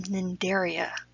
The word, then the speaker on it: Cnidaria: jellyfish are in phylum Cnidaria the sea is silent who put silent putters